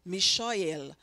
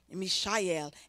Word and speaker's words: Mishael: And the one on one, his name was Mishael. Mishael, I didn't even know. I listened to the Hebrew pronunciation a long time to get that. Mishael, and his name means who is what God is.